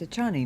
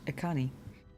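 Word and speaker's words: Echani: I've been pronouncing the armor wrong for a game and a half now. Apparently, it's a Chani, not a Connie.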